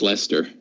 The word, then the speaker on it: Leicester: on is it HMS Leicester that's a four master that gets the to mess with one hit ability yeah sister it's Lester yeah thanks strange English pronunciation rules I would put Hargreaves